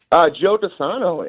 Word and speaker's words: Joe DiSano: Am I pronouncing your name correctly, sir? Joe DiSano, and let me just say, guys, I'm a fan.